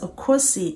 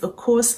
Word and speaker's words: Okosi: A lot of people pronounce the Okosi as Okosi. If you're one of them, you're forgiven. And if you're about to be one of them, I forgive you already. But please, it's Okosi and not Okosi.